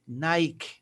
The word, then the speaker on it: Nike: Pero como tiene la K y la E, Nike, Nike. No Nike, sino Nike. La E no suena.